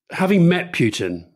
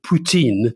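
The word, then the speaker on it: Poutine: is the fact that in french he's called putin p-o-u-t-i-n-e because of course as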